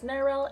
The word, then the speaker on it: Nyrryl: name is pronounced as “Neryl” it's like “Meryl” but with an N also before we begin